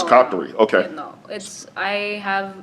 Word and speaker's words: Qatari: Qatarian. Yeah, I guess citizen. probably, yeah, What's your yeah. citizenship? Qatari, yeah, it's called Qatari. Do you have dual citizenship? Oh, it's No. Qatari.